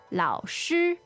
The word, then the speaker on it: 老师: So I think we should just do a quick preview of the word 老师. 老师. Okay, so this is L-A-O third tone, S-H-I first tone, and it means teacher.